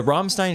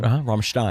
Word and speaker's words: Rammstein: Dude, the Rammstein show was insane, and I kind of So loved sick.